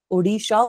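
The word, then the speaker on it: Odisha: ओडिशा होता है, उड़ीसा होता है, क्या बोलते हो लोग? Like ओडिशा इज I think the correct pronunciation, ठीक है बेटा।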